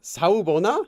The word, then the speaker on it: Sawubona: It's Sawubona. Sawubona. How do you pronounce that? Sawubona.